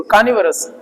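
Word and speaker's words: carnivorous: है इनको भी देखो कानि वस वोरस नहीं होता है कानि वस दोनों आर साइलेंट है कानि वस ये मास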